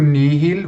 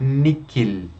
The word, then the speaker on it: nihil: Lembrando que o nihil você pode pronunciar níquil, das duas formas, níquil ou nihil.